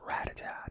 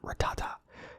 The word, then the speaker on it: Rattata: It is Rattata, not Rattata.